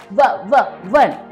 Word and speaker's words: one: यहाँ पे वन है, पर हम प्रोनाउंस क्या करते हैं? वन. बिकॉज ओ की जगह पे वन बोला जाता है, व, इसीलिए यहाँ पे ए लगेगा.